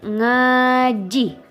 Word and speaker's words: ngaji: N G A J I dibaca ngaji. Dalam bahasa Indonesia artinya mengaji. Contoh kalimatnya, Hendra pinter ngaji.